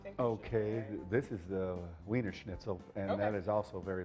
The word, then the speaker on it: Wiener Schnitzel: Wiener Wiener Schnitzel.